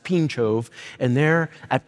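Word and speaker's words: Pińczów: a town in Poland it's spelled p i n c z o w it's pronounced pinov and there at pinov in 1559 a Polish confession was written the the entire pincho confession is structured around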